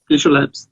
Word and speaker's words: Tissue Labs: Chama Tissue Labs, é assim que pronuncia? Tissue Labs, isso.